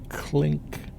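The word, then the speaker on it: Klinck: In front of us is the, let's see, how do you pronounce that? Clink Building, K-L-I-N-C-K Building.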